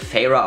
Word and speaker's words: Feyre: Und ich habe nachgeguckt, es wird Feyre ausgesprochen. Es wird von Sarah J. Maas Feyre ausgesprochen. Es wird von allen englischen Booktubern Feyre ausgesprochen.